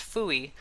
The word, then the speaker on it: FUI: linen lab's fui work fui commonly pronounced fuy stands for flexible user